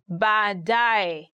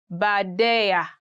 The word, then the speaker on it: baadaye: He had a very hard time saying baadaye. He used to say badeya, badeya, which is quite different. But now he made it up. He's okay. He says baadaye.